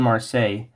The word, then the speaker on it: Marseille: does it take place uh oh French pronunciation uh it takes place in mer yeah lash was a lot easier to pronounce than I thought so yeah it takes place in Marseilles a French film that